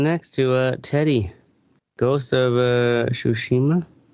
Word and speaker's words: Tsushima: All right, moving on next to Teddy, Ghost of Tsushima. How do you pronounce it?